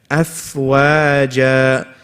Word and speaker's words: أَفْوَاجًا: Many people, when they say the wow on this word, أَفْوَاجًا, they make it heavy by saying أَفْوَاجًا. No, what is it? Wa. Stretch it out because wow is a light letter. Afwaja.